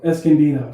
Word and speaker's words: Escondido: Escondido. Okay. Yeah, I don't, dude, I always add more syllables. Escondido is like 3 syllables. I add like 5.